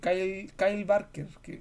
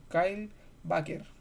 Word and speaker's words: Kyle Baker: comedia de aventura de Kyle Barker, no, mal pronunciado, Kyle Baker, ahí sí, que se llama You Are Here, que Baker es como es un historietista, ¿cómo se llama?